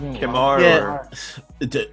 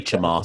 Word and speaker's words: Chemar: Is it Chemar? How do we say his name? Kemar. Either one's fine. I say Chemar.